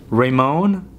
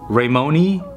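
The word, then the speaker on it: Raymone: Okay, so I just looked up LeBron's middle name and it's LeBron Ramon or Ramoni James Sr. However you want to pronounce it, it's R-A-Y-M-O-N-E.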